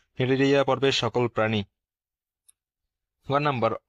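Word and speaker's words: Cnidaria: আর আই তাতে এখানে সির উচ্চারণ হবে না এখন উচ্চারণ হবে নিডারিয়া নিডারিয়া পর্বের সকল প্রাণী গয় নাম্বার অঙ্গতন্ত্র মাত্রার প্রাণী বা organ system level of organisation.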